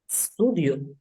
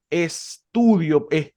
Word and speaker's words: studio: Studio. Ajá, muy bien, muy bien. Tutti. Es un siseo que lleva al principio la palabra, ¿no? Es un siseo, no podemos decir estudio como si fuese escrito